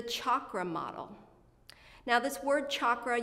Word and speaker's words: chakra: Now this word chakra, you may have also heard it pronounced with a soft CH here in the West, and it's a Sanskrit word that means wheel.